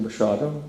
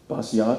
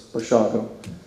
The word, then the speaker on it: Basiago: Wouldn't that be pronounced Basiago? And I said, no, it's Polish, it's slurred, it's Bashago.